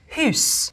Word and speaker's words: house: sounds like is to take all vowels and pronounce them as you would in French and pronounce every letter. The word for wife would be pronounced weef. The word for house would be pronounced huus. The word knight, knicht.